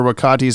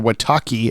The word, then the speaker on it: Wakati: I'll tell you that Robin mispronounces Dr wakati's name is Dr wataki and Batman corrects him